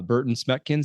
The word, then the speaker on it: Berten Smekens: So for our audience, this is uh Burton Smeckkins. Did I pronounce that correctly?